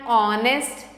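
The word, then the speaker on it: honest: सो we also right an ऑनेस्ट person क्योंकि यहां पे एच साइलेंट है हम इसे बोलते हैं ऑ ऑ का साउंड आता है नाउ लेट्स लर्न अबाउट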